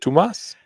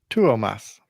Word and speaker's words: Tuomas: Tomas? It's 3 syllables. Okay, you do it. Tuomas.